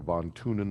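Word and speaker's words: von Thünen: because this is talking about it's called the von tunin model that's how you pronounce that guy's name uh and this is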